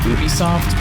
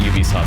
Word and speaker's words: Ubisoft: I used to call them Ubisoft, but they all pronounce it Ubisoft, so I don't know.